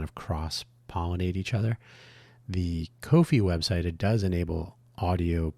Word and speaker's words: Ko-fi: Dan's uh Dan's Kofi Kofi coffee. The best way to pronounce that is tricky. I don't want to confuse. It's not coffee. It's kofi.comhugo.